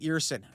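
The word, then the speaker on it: Ersson: All of it comes to an end tonight with Sammy Eerson locking in to stop 24 of 25 shots. I had pronounced his name as Ersen in the video reaction spot all year long, but that last stretch may have buried them.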